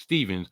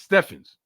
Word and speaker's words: Stephens: Even though people pronounce it Stevens, which they're damn wrong for pronouncing it like that, and I'll let them know and I'll set them straight because my mama named me Stephen, and damn it, my name is Stephens.